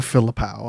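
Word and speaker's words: Philippou: Yeah, Danny and Michael Filippau, I believe that's how you pronounce it correctly.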